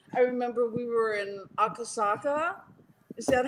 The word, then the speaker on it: Akasaka: I remember we were in Akasaka. Is that how you pronounce it, right? It's Akasaka.